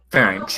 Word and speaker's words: Pharynx: Pharynx, you mean? Pharynx, yeah, I pronounced his name wrong.